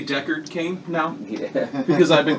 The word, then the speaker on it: Deckard Cain: Do you know how hard it is for me to say Deckard Cain now? Yeah. Because I've been calling him Cackerdane for 4 years. So whenever I say Deckard... Whenever I've said Deckard Cain around you guys for 4 years, I have